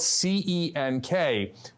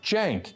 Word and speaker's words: Cenk: It's spelled C-E-N-K, but the C in Turkish is pronounced like a J, like Cenk, like short for Jenkins, okay?